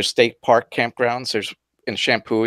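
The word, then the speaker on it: Champoeg: listening to this podcast shampoo he has not spelled the way you would think it is no it's not it's not it's shampoo yeah yeah ch ampo he cheese how it's spelled and I would never ever ever guessed that and you thought will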